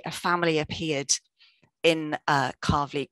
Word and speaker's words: Calverley: very very quickly be told that it is pronounced carvely and not cowley despite its spelling and that's because it comes